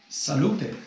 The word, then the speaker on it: salute: Salute.